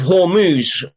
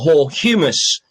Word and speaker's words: Hormuz: in the straight of Hormuz or Horumus. Uh if you can't pronounce it properly, just think of it as humus.